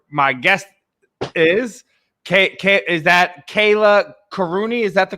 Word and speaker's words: Kallia Kourouni: us from where my guest is is that kayla karuni is that the correct pronunciation yes yes yeah there you go and